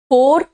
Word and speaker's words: far: FOR एंड FAR pronunciation अलग है। फोर, फॉर एंड फार, फोर, फॉर, फोर, फॉर एंड फार, ठीक है।